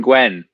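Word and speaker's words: Gwin: Aaron Gwynn. It's the Joey of the week. Paul, You did pronounced Aaron it leave? wrong. You Oh, pronounced it wrong. It's who, what, when, Aaron Gwen. Oh, Gwen? Gwen. Yeah, you said it last week, Shane.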